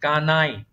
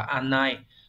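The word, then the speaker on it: 家内: Số 2 là chữ gia và chữ nội, cái này là kanai. Này có nghĩa là vợ. Không phải đọc là anai.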